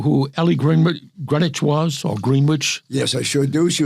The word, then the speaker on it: Greenwich: In 1968, United Artists released the album Ellie Greenwich composes, produces, and sings. I'm not sure it's whether it's Ellie Greenwitch or Greenwich. I I've already heard it pronounced Greenwich.